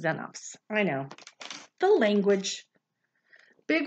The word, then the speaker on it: xenops: e next to it it's not pronounced like x it's pronounced like z isn't that weird so this says xenops it doesn't say xenups it says xenops i know the language